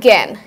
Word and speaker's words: জ্ঞান: এখানে যেমন আমরা দেখে এসেছিলাম যে ইওর সাথে জ, আর এটা নিয়মটা হচ্ছে জয়ের সাথে যখন ইও যুক্ত হবে সেই ক্ষেত্রে সেটা গ বা গয় গ মতো উচ্চারণ হবে। যেমন জ্ঞান।